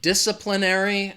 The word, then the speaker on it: disciplinary: some rules or laws the stress is on that first syllable dis disciplinary disciplinary again that second syllable has that schwa DISA DISA disciplinary say it with me